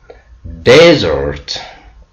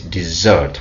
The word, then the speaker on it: desert: have Pro I mean stress the first syllable uh the meaning is dry clet it means uh when you pronounce on the first syllable it's a noun when we pronounce on the second syllable it becomes a verb so desert the second example is or word is Desert which means to live or abandon see the difference desert desert this what mean of stress